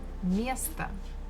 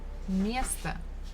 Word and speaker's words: место: Again, me, syllable me is stressed, so we must pronounce it as it is. But the last one, again, we have O, it is not stressed, so we say it as A. Место, место. Это мое место.